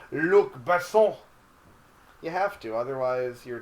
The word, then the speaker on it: Luc Besson: I feel pretentious when I say his name, but it's Luc Besson.